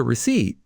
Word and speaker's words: receipt: And if I need a receipt? Could I have a receipt, please? Receipt. The spelling is strange. Yes, the P is silent.